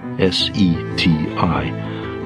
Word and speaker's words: SETI: This quest is called the Search for Extraterrestrial Intelligence, S-E-T-I, pronounced SETI.